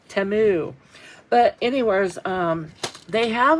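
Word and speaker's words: Temu: Anyho, so um, these all of these containers I did get from Timu. Timu. I keep see I'm still saying it wrong and it's supposed to be timu.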